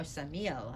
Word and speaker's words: Samael: married to some male samael or samia as people pronounce it and as the